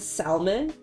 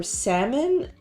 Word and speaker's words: salmon: And I made this little like charcuterie plate with different types of cheese and salmon. Or salmon? I heard you don't pronounce the L.